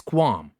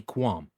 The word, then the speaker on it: qualm: difficult and that is quam and by the way this is spelled qua LM the L is silent that's why we say quam but anyway let's see